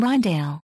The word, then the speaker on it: Rijndael: security of AES below the name ryale Dutch pronunciation is a play on